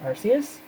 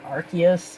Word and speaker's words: Arceus: absolute distaste for the matchup of beerus and Arceus or Arceus however you say it I know that's what the official English pronunciation is but it just sounds horrible and